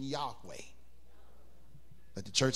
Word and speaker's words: Yahweh: You take all of the vows out of Jehovah and you get the word, the Hebrew pronunciation Yahweh. Let the church say Yahweh.